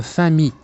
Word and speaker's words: famille: سنقول quel est ton nom de famille. لاحظوا أن ال أو اثنان ال في كلمة famille لا ننطقها.